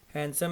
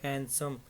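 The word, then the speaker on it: handsome: हैंडसम और याद रखिएगा हैंडसम में एच ए एन डी की वजह से लोग गती कर जाते हैं उसको प्रोनाउंस करने में उसकी सही प्रोनंसिएशन होती है हैंडसम नॉट हैंडसम ठीक है तो इसी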